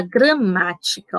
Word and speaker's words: gramática: Aqui na palavra gramática, ó, sabemos que o má é a sílaba tônica, porque ela é mais forte.